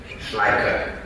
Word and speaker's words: Schleicher: Schleicher.